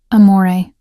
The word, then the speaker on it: amore: Amore, I said softly, demonstrating the proper pronunciation. The R is barely there. It's more of a suggestion than a sound. Amore, he repeated, his eyes